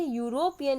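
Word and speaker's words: European: उसी तरह से यूरोपियन में भी आवाज़ किसकी आ रही है, या की आ रही है।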